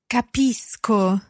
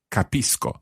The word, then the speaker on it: capisco: So if C goes straight into O, then it's a hard C sound. Co. Capisco.